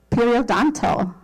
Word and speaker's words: periodontal: Periodontal.